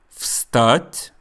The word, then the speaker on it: встать: Встать, to get up. Notice that even though this word is spelled V-S-T-A-T, soft sign, мягкий знак, the first sound is F, встать.